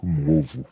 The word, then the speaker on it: Mwovu: My full name is Mwovu. Mwovu. And if you will spell that out for me, I'll...